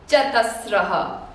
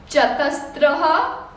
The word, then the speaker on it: चतस्रः: कह रही हूँ because the common mistake even adults make while the pronunciation of the last letter is concerned, they call it तीस्त्रः। तीस्त्रः नहीं है, चतस्त्रः नहीं है। It is not स, त and र, स्त्र, no, it is स्र।